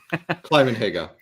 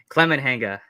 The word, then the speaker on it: Climenhaga: How do you pronounce it? Climenhaga. Climenhaga.